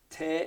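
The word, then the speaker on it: Tae: So with that in mind, we're going to pick a jig called Te in the Bog. Now, Te is an Irish pronunciation, an Irish pronunciation of the English word tea, and the bog is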